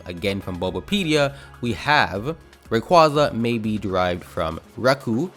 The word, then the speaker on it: Rayquaza: this Pokemon's name wrong I say the dreaded Rayquaza which I know is so wrong but I just can't help it at this point it's been too late the name has been scarred into my brain and now it's Rayquaza forever for me even though I know the proper pronunciation is Rayquaza with the best evidence of this being every single piece of official media from Pokemon however diving into the